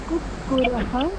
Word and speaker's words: कुक्कुरः: कुक्कुरः, कुक्कुरौ। ठीक है। एक वचन में, बहुवचन में जो हम लोग पाठ करते हैं, उच्चारण करते हैं, उसमें ये ध्यान रखने का, कुक्कुरः, रह, और यहाँ राह, रह, राह, ठीक है।